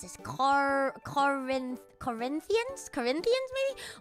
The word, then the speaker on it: Corinthians: I don't need you perfect pronunciation oh thank you it's Corinthians damn I'm so God,